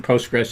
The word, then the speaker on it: PostgreSQL: used postgres extensively and i'm choosing the pronunciation postgres ignoring the ql i'm going to consider them silent so i think it's